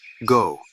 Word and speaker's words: 五: It is pronounced go and has 4 strokes.